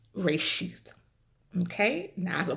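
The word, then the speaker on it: ראשית: In the original Hebrew, the word is pronounced reshith. Okay? Now I have a plate in, so I know that's gonna, make my pronunciation a little bit funky, but reshith.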